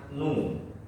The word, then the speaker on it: nu: Nah, nulisnya seperti ini. Bacanya nu.